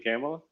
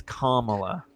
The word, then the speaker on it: Kamala: white boys for Trump did you mean camela well it's Kamala it's whatever say it right well I'm just saying